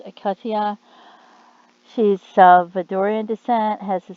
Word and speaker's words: Katya: and things like that it says her first name is pronounced akatia she's salvadorian descent has